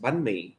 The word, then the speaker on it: banh mi: Banh mi. Okay. And if you are non-Vietnamese, you probably have said it or heard it's pronounced banh mi.